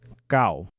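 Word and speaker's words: 九: Just remember that the number 9 is called gao. Finally, we are learning our last number for today. The number 10 is pronounced zap.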